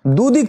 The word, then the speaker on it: the: দি বসাতে পারবো, অর্থাৎ দুদিক থেকে এখানে দি বসবে। এখন দি উচ্চারণ করবো না দা করব? না, ইউনাইটেড ইউ যেহেতু ভাবেল আছে তাহলে উচ্চারণ দি হবে, দি United states of America বা দি USA।